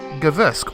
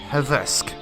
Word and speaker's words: Hversk: and the village of Guvsk, or should I say, Hversk. I hope I pronounced that correctly. Apparently, G's aren't very common in the Ukrainian language, which is something I didn't know, because I know nothing.